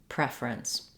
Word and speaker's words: preference: the fur syllable and in preference we stress on the pref syllable so in prefer the